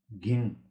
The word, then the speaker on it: घिङ: यसमा ङ को पछाडि खुट्टा काटे विराम चिन्ह लागेकोले यसलाई घिङ नभनेर ङलाई छट्याएर घिङ भनेर उच्चारण गर्ने।